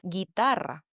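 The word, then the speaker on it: guitarra: Guitara. Guitar. Guitar. The U again is silent.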